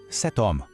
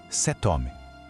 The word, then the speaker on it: cet homme: Cet homme. Ouviu isso? Aquele T no final de set parece que nem existe, mas ele ressurge para se conectar suavemente com o som do O de homme.